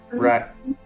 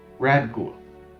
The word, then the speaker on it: Radghoul: We are continuing on our mission to hinder Mormog and I always mispronounce his name. Radghoul. Radghoul. Always the D. Radghoul.